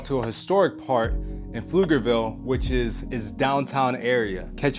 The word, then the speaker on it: Pflugerville: We we went over a lot in this video, you know, we went over the the correct pronunciation of Flugerville. It's not Plugerville, it's Flugerville.